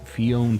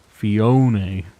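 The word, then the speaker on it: Phione: It'll always be Fion to me. Yeah, it's tough. It's tough to change your pronunciations on stuff. Emphasize the middle syllable. How do I emphasize? Oh, Fione.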